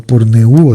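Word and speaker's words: πορνεύω: 1, la palabra fornicación viene de porneuo, con acento en la U, porneuo se dice así, actuar de una prostituta,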